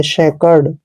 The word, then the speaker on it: SACRED: दोस्तों जब भी सी के बाद कोई कॉन्सोनेंट आता है तो सी का उच्चारण आपने कै करना है, और यहाँ पे पढ़ेंगे इसको हम SA का उच्चारण श और ए की मात्रा पढ़ेंगे, सी को हमने कै पढ़ना है ऐसे, और आर का उच्चारण रे करेंगे, ED को डे पढ़ेंगे, शेकर्ड, शेकर्ड। दोस्तों शेकर्ड का मतलब होता